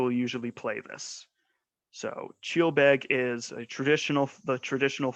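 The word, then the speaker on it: ceòl beag: so this is the musical style and it's pronounced chill big and it translates from gaelic to light music and so and the instruments used it is a single uh bagpiper who will usually play this so cheelbeg is a traditional the traditional form of music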